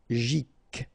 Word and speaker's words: psychologique: Psychologique, okay, remember it's an exception here because you've got this C-H-O. Normally we should pronounce it CHO, okay, but in that case we pronounce it CO. Psychologique, remember, final Q-U-E like that, K.